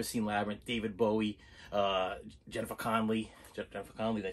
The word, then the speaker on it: Connelly: If you've ever seen Labyrinth, David Bowie, Jennifer Connelly, did I say it right? Jennifer Connelly, yes, okay.